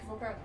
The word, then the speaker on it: Volpert: Just mod Eric Volpert. Here. You spelled his name wrong.